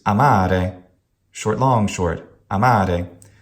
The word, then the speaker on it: amare: However, amare is completely wrong. It's amare, short, long, short, amare.